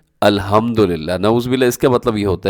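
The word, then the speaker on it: الحمد لله: तब्दील हो जाते हैं जैसे अल्हम्दुलिल्लाह यह इसकी दुरुस्त जो प्रोनाउंस एशन है वो यह है इसका मतलब यह है कि तमाम तारीफें अल्लाह के लिए लेकिन अगर कोई कह दे अल्हम्दुलिल्लाह सही क्या है अल्हम्दुलिल्लाह और गलत कैसे पढ़ द अल्हम्दुलिल्लाह नौजुबिल्लाह इसका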